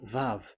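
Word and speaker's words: ו: So the way we read it is VAV. So we wrote it as VAV. We called it as VAV. VAV. Your claw, your mouth is like closed. VAV. So it's V as in Vogue. So it's really V.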